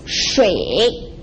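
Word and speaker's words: 水: It's pronounced shui, water, water.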